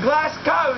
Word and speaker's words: Glasgow: How do you say Glasgow?